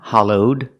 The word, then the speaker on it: hollowed: say it's hollowed out pronounce the Ed with a D sound hollowed link it with the next word out together hollowed out this is a hollowed